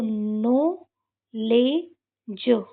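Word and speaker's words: knowledge: तो ये क्या हो जाएगा? ज तो नो ले ज न लास्ट की इ को पढ़ते नहीं है। यहां पे डी भी साइलेंट यहां पे के भी साइलेंट। तो ये नो लेज नॉलेज क्या हो जाएगा?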